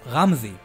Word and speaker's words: Ramzi: The older boy's name is pronounced Ramzi, and he is the boy that we saw in Eren's memories.